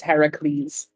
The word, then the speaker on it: Heracles: Like, that's Hercules, but isn't that the Roman pronunciation? Aren't we going for the Heracles? Yeah. Different. It's Heracles.